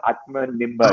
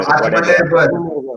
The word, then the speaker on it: Atmanirbhar: I cannot ever pronounce that word. Self-reliant office. What is it called? Atmanirbhar. Atmanirbhar.